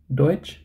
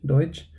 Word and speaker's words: Deutsch: there is a difference let's look at tsch so whenever you have tsch you can think of J of which or switch right Deutsch you have TSH Deutsch then TSH Deutschland and